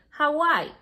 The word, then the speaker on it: Hawaii: don't say a y it's a name so you have to pronounce it as it is you say hawaii okay uh let's go